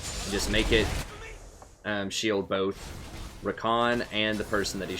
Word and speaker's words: Rakan: Technically, they pronounce it Rakan.